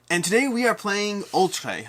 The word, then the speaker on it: Oltréé: today we are playing ultra i believe it's pronounced ultra it's not all tree i'm pretty sure i'm pretty sure it's the ultra ultra ultra uh that's the